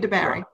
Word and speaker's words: DeBary: debary sherry or yeah city of debary that rhymes with your name um so the uh